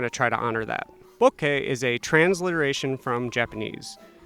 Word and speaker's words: bokeh: reference for many people on how to correctly pronounce the Japanese term bokeh. bokeh. Bo, that's gonna be bokeh.